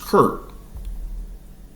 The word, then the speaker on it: Kirk: and old English and German word pronounced kurk in Scotland it was Kurt H my captain